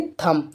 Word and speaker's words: thumb: ठीक है, जैसे एक एग्जाम्पल ले लेते हैं, जैसे थम। ठीक है, थम माने होता है अंगूठा, THUMB, तो यहाँ पर भी एम के बाद में बी आ गया, तो यहाँ पर बी साइलेंट है, तो हम इसके लिए क्या पढ़ेंगे, थम।